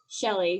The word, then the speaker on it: Chelle: me on linkedin and my name is spelled a little differently it's c-h-e-l-l-e shelly so like michelle without the mi very cool very shelly